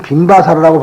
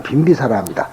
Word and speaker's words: 빈비사라: 그런데 그 나라의 이제 빈비사라 왕, 흔히 우리나라 사람들은 빈바사라라고 발음을 합니다만 빈비사라입니다.